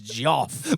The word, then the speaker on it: Geof: It's like what- Spelled with a G. yeah. GEOF. It's Joff.